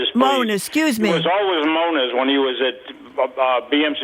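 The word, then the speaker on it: Moniz: It's only became manise, which is, as I always say, a halfass Portuguese pronunciation.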